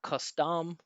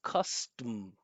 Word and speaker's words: custom: Not custom, it's custom. Right? That vow, this schwah, it's just getting completely eaten up by that strong vibration of the M.